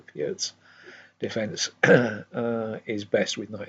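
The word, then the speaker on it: Pirc: Knight f6 is translating to the what everybody calls the perk, but I think is supposed to be pronounced the Piert's defence is best with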